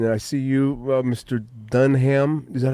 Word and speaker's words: Dunham: Dunham. Is that how you pronounce your name? Dunham? Oh, no, it's Dunham.